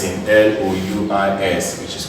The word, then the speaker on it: Louis: S is silent in L-O-U-I-S, which is called Louis.